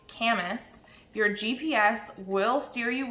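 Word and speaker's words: Camas: city just to the east of vancouver it's camus your gps will steer you wrong i still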